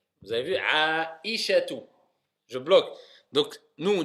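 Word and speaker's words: عائشة: Ensuite, aïchatu. Vous avez vu aïchatu. Je bloque. Donc, nous, on dit quand on parle Aïcha en général, on dit Aïcha, mais c'est Aïcha, si on veut bien le prononcer.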